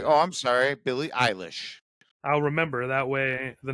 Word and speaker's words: Billie Eilish: oh, I'm sorry, Billie Eilish. I'll remember that way. The next time I am talking to someone, I won't sound like an idiot What'd you and say, Rex? mispronounce it. Billie Eyelash?